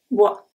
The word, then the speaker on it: bois: Bois, bois. Can you guess the pronunciation of this one? Bois. So, it's B-W-A, bois.